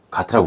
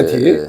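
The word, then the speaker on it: GATT: 가트라고 부르지 않고? 원래 정확한 말하면 게티라고 이야기합니다. 네, 네, 그렇죠. 또 사람마다 다르니까 이거 사투리가 될 수도 있어요. 그죠? 사투리가 아니라 정확한 발음입니다. 네. 이건 원어민 발음입니다. 네, 게티.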